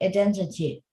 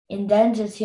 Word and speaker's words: identity: The woman showed her passport to prove her identity. Why might somebody want to keep their identity a secret? Yeah. And that and the pronunciation of that word is a long I sound.